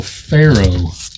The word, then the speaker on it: Ferox: Cannibal Pharaoh. Is how this is pronounced. Yeah, and we've talked about that before, I think, on the podcast. Is like, we all say Ferox, or Make Them Die Slowly, because I'm American stupid.